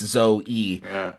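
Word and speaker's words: Zoë: was like um like the two dots actually make it so that people know when pronouncing it that it is the actual sound of the letter E. So, and you know it's Zoe E.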